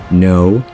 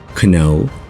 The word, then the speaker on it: know: Have you ever wondered why we have these KN words in English, where the K is silent? Because these are old Viking words that the Vikings pronounced as kno, knife, and knot.